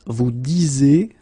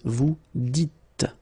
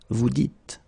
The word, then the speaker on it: vous dites: So it's not vous disiez, okay, as many would think, but then it's vous dites, okay, final S not pronounced, vous dites.